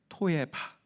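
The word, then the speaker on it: תועבה: 그러니까 이 얘기를, 이 표현을 히브리 원어로 보면 이 미워하다가 토에바, 히브리어로 그렇게 발음이 토에바.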